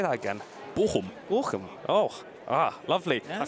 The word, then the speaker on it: Bochum: How do you pronounce that? Say that again. Bochum.